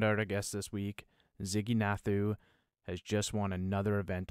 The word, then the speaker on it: Ziggy Nathu: uh recent winners on so uh this is ziggy nathu did i pronounce that right ziggy yeah you got that